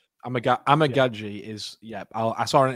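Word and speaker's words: Amegadjie: it was amaji or amig gaji correct amag amig gaji is yeah I saw an interview with him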